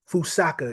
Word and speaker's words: Fusaka: Fouseaka is what is is how you pronounce it.